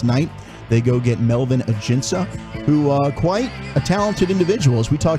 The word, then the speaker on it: Ajinca: You went Ajinca yesterday, didn't you? Ajinca. But the J was silent. And you thought the C was hard.